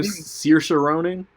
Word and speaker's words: Saoirse Ronan: Saoirse Ronan.